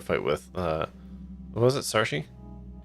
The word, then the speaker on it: Saoirse: That is an extremely Irish name that I do not know how to pronounce. Name's Saoirse.